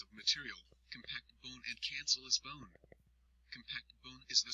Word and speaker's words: cancellous: Cancellous, pronounced cancellous, bone, which looks like a sponge, is inside the compact bone.